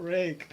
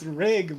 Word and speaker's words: Rig: No, my name's not Rick. It's Rig, bro.